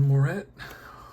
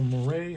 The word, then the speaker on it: Moret: Willoughby and Moret, or Moret, however you want to say it. Moret is usually the French pronunciation.